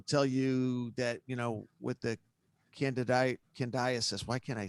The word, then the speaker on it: candidiasis: Of course, I'm talking about candidiasis. I say it right? Candidiasis.